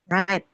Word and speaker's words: write: kalau write nulis itu W-nya jangan dibaca lagi ya. Write. Menulis tuh write ya, bacanya right. W-nya W-nya enggak usah dibaca ya.